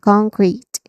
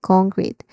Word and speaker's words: concrete: So pronunciation wise, let's have con, which is stress syllable, the first syllable con. Then crit, which is a short e vowel sound. Concrete. Okay, concrete.